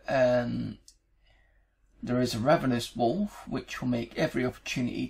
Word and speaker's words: Wooluf: i die this is it's the wolf or olive old it's spelt w-o-o-l-u-f but you can see it just says wolf here um so basically um